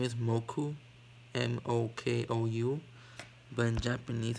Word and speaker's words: Mokou: that's his name right now his name is moku m-o-k-o-u in japanese it's so weird i have